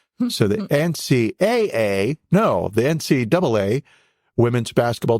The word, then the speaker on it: NCAA: gaining International recognition 1982 NCAA women's basketball championship and I'm from North Carolina enough to know that when I see two A's together it's pronounced double A and not AA so the NCAA no the NCAA women's